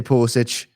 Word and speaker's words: Pulisic: I say Pulisic. The Croatian in me has to have the itch at the end.